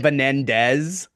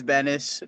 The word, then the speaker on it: Benas: I think I said Benendez. Yeah, it's Benas. Bro, at William & Mary they said "Beninas" and I was like, "Bro."